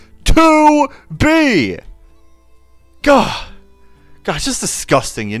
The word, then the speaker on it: 2B: me you know also people pronounce her name wrong all the all the time they say boty it's 2B to B God God just disgusting